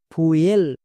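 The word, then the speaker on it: fuel: তাহলে কখনো হয় যেমন দেখো ফুয়েল এখানে কিন্তু ইউ এর জন্য হসুকার সাউন্ড করতে পারবো না কারণ এটা শব্দের শেষে নেই তাহলে আমরা বুঝবো কি করে এর জন্যই তো ম্যাজিক টিপসটি বলবো তাহলে এর উচ্চারণ কি হবে ফুয়েল এবার কোশ্চেন হচ্ছে আগেরটা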